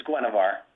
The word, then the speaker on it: Gavar: how you say it is it Gwar or gavar it's gavar okay does he does